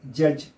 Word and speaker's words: judge: Then judge, for D is not to be pronounced.